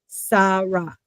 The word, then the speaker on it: Sara: And that is not a shin. That is a sin. Sara.